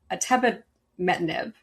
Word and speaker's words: atebimetinib: They presented data showing that, and I do know how to say this one because I've talked to the CEO 2 times, atebimetinib.